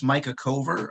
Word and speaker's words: Micah Cover: this uh thank you lorenzo yeah uh it's micah cover i know you were uh you were kind enough to ask about the pronunciation i do have i guess an unusual